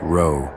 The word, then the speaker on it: Ro: It is pronounced Ro, though few people living today would know that.